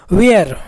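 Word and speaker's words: where: एक साथ है दोस्तों उसके बाद इसमें एच साइलेंट है डब्लू डब्लू एच आपका एच आपका साइलेंट है एच नहीं है उसके बाद ई है उसके बाद आर है उसके बाद ई तो ई भी साइलेंट है तो डब्लू को केवल वा पढ़ रहे हैं दोस्तों आधा वा ई को ए की मात्रा पढ़ रहे ई और आर को आधा रा तो का पसान क्या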